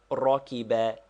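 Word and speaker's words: ركب: What verb is this rocky be? It is pronounced rocky and means he rode or mounted.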